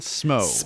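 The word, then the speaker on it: Smough: this was on there is orange Dean and SMO is how you pronounce it sorry quarantine and thank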